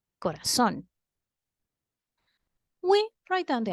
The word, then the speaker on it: corazón: For example, the word corazón. Corazón, as we already saw before, is an aguda word because the strongest part of the word is the last syllable, corazón.